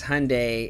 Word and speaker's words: Hyundai: a Hyundai he says Hyundai is pronounced like Sunday so because I kept